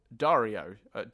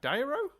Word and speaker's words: Dyro: up this is from uh cable Dario no d dyro c cable dyro sorry cable dyro I mispronounced your name to start with I